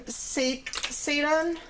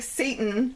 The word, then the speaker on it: seitan: I like using seitan as a it's not pronounced like Satan, it's pronounced like Seitan.